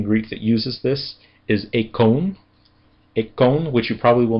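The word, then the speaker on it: εἰκών: important word in Greek that uses this is econ which you probably will not recognize with that pronunciation. However, if I change the vowel sounds a little bit you'll probably recognize it immediately. Icon.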